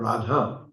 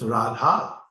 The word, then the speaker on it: Radha: from the American background they used to mispronounce the the mantra you know that usually they saya jada you know that but it's not rad it's radha and even if you